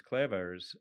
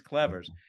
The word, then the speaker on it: Clevers: But we were just talking last episode to Hans Clevers, who I tried the Dutch pronunciation there, which maybe didn't come off so well. Hans Clevers.